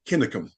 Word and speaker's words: Cunningham: from local knowledge that the original pronunciation of Cunningham is actually Kinnicum.